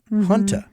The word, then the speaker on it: junta: So now he's talking hanta. Not junta, not like military junta, not junta, not hanta, but hanta.